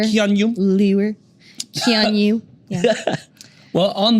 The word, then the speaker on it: Keanu: I like to do the liquid Keanu. U. Like in sure. Keanu.